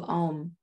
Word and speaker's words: Om: and then we'll do om five times reminder almost a u m and silence four syllables so take a simple